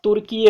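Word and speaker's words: Türkiye: और अब तुर्की का नाम क्या, नोट कीजिएगा, तुर्की का अब नाम हो जाएगा, स्पेलिंग पर ध्यान दीजिएगा, स्पेलिंग पर TURKEY पहले था, जो कि अब क्या हो गया है, TURKIYA, TURKYIA। ठीक है, तो याद रखिएगा तुर्की का नाम अब तुर्कीये हो गया।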